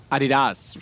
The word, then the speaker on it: Adidas: Adidas.